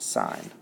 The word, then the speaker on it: sine: Say we have the sine of A, and sine is always abbreviated SIN, but it's pronounced sine.